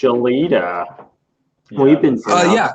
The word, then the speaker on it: Gelida: thing so now we pile it on it's pronounced Aleta we've been yeah it's okay I I hate